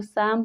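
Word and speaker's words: calm: में एफ के पहले एल है तो एल साइलेंट है इसको साम पढ़ते हैं टाक टाक में के के पहले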